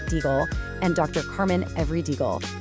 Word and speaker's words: Deagle: Clifford Deagle, and just so you know, that's pronounced deagle, and Dr.